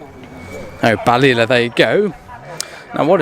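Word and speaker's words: Balilla: back of that one as well like a or something like that I'm Sor I nailed to that pronunciation oh balila there you go now what is this this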